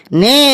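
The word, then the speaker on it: know: ও ডব্লিউ নো এখানে কে এর উচ্চারণটা মুখে হবে না একদম ঠিক বলেছি শাবলু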